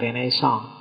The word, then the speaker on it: Renaissance: begitu kita lihat ya renaisan renaisan itu istilah dalam bahasa Prancis bacanya agak seng sengau belakang yo kalau orang Indonesia sih enggak suka istilah sengau itu biasanya renaisan yo renaisan kalau orang Prancis sendiri belakangnya mesti agak hilang Ren song jadi kalau kita nirunya